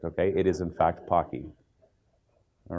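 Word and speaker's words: Poky: that in a second pakhi and it is pocky you know you'll see people pronouncing at pokey as well as pokey okay Pocky is in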